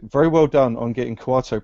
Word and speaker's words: Kuato: and um also very well done on getting quato pronounced for the entire show correctly well you know